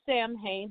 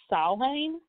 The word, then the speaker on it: Samhain: so Halloween itself a lot of people say Samhain but the correct pronunciation is more like solving and it's a Gaelic holiday a Celtic holiday